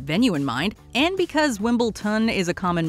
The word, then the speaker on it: Wimbledon: long history and popularity people still mispronounce it as wimbleton unfortunately this came back